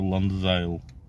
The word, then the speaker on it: Landzail: Резина, еще раз повторюсь, называется Ланзайл. Ну, насколько как я по интернету понял, читается именно так.